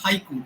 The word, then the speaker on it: haiku: syllable count in a haiku the word Haiku in English is a two syllable word in Japanese it's a three syllable word okay so so so